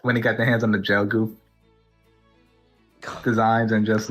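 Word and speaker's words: Gelgoog: to give the the gel dep. Yeah, but it's pronounced gelgoo.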